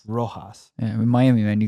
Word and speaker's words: Rojas: How do I pronounce the last name? Rojas.